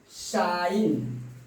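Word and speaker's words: sign: आप देख रहे हैं जी का प्रोनाउंसिएशन नहीं हो रहा है। आपका इसको पढ़ते हैं साइन, इसको हम पढ़ेंगे साइन।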